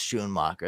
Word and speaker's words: Schoonmaker: Oh, it is pronounced Schoonmaker? I always pronounce it Schoonmaker, and I thought I was being an idiot. And so I was like, oh, yeah, it's Schoonmaker. That sounds way smarter.